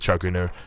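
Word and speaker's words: Chu Ko Nu: Now, with the pronunciation of that word, obviously, it's spelled a little bit different in AoE 4 than AoE 3, which is where I'm from. So, yeah, we normally just go with Chokunu.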